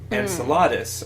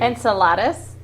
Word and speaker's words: Enceladus: Saturn even Enceladus yes is that like a salad and how do you how do you say it insult enceladus I'm sorry I've never said that out loud before I am in Saladin right anyway but but